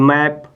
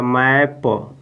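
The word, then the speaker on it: map: है आपका क्या लिखा है एम ए प मैप ये क्या हो जाएगा मैप मैप मीस होता है मानचित्र मानचित्र बस इसी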